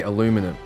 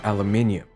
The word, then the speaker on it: aluminium: Before a few of you hit the comments up again, I realize Americans say aluminum. The way the rest of the world say it though is aluminium.